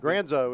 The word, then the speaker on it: Granzo: that granzo is now we're gonna go granzo or granzel tonight granzo is what he is how he pronounces it that's how we should pronounce it well oh scramble there